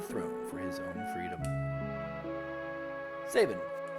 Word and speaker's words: Sabin: for his own freedom saban for sobbing i like saban saban to me is i've heard it pronounced different ways i yes his name is saban oh he looks so